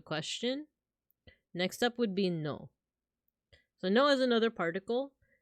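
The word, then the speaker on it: の: this character means no this is pronounced no and just as RV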